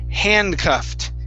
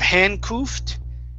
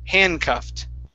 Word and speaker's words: handcuffed: And this one here is pronounced handcuffed. Instead of handcuffed, handcuffed. Handcuff. Okay. Now, with a T sound at the end of the word, handcuffed.